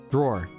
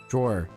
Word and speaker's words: drawer: Drawer. Okay. it's just draw, but it ends in an R. I know. It's so simple. Drawer.